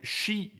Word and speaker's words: Xi: I forgot to correct how you pronounce the name of the Chinese dictator, Xi, is pronounced like she.